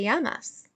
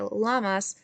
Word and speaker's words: llamas: name como te llamas and remember with this double l we're going to pronounce that like a y we are not going to say como te lamas i'm going to say